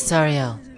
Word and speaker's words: Sariel: Said it with no L at the end. At least I did not hear it. I could have over. Sariel.